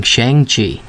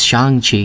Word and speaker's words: Shang-Chi: included a lot of people have been saying shang chi but apparently the correct pronunciation is shang chi so shang chi it is anyway i wanted